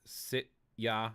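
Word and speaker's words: sitja: And the last part, sit ya. Now see, J's in Icelandic are pronounced like Y's.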